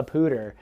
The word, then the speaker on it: Poudre: our pooter river so coming in from out of state and immediately starting to talk about poudre high school or poudre school district or cachet la pooter you are just gonna people are gonna turn their heads this person's from out of town now that's not a